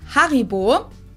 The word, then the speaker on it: Haribo: everyone knew that Haribo is actually German we pronounce it Haribo har to be honest I don't know if